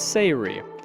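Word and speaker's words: Say'ri: been mispronouncing sarees name it's not sorry it's Sayuri I apologize hopefully no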